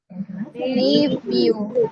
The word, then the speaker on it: nephew: Nephew. PH-nya jadi V. V. Nephew. Nephew.